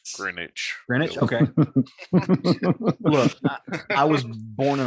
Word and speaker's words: Greenwich: the dragon specifically um you don't pronounce the w in green green witch it's greenwich greenwich i was born